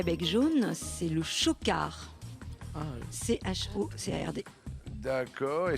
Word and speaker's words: chocard: la corneille à bec jaune, c'est le chocard. Ah, CHOCARD. D'accord, et ça se prononce pas Coca.